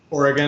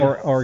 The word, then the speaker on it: Oregon: I think some would disagree with emphasizing the gun part, but let's keep the politics. So how do you out pronounce here, huh? how do you pronounce the state? Oregon.